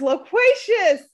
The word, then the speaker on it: loquacious: Loquacious. Did I say it wrong? Is it loquacious? It's loquacious.